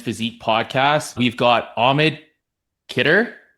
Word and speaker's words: Khidr: We've got Ahmed Kder. Is that how you say your last name? KD. That's how you say it.